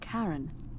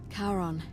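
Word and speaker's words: Charon: it's just as you described it only your pronunciation is a little off the name you heard wasn't Karen it was c h a r o n as in Kon the Fairman of the Dead karon who in exchange for the right coin helps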